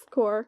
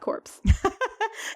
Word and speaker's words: corps: men their I corpse core it's not corpse it's spelled that way though it is so the